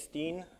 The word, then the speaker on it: Tin: So my name is Steen. I'm from Croatia. It's a not uncommon Croatian name. That's how it's pronounced.